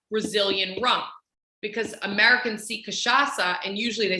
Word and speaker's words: cachaça: And he literally spelled it out with a little cedilla, which is that little thing underneath the C that makes it a soft C and not a hard C.